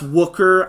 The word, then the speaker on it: Wooker: as Minnesota was led by McKenna work wooker so her last name is pronounced wooker I'm sorry if I